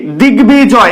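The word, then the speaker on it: দিগ্বিজয়: এর মতই উচ্চারিত হচ্ছে দিগবিজয় এটা কিভাবে উচ্চারিত হচ্ছে দিগ বি জয় দেখেছো বর্গীয় বটা ব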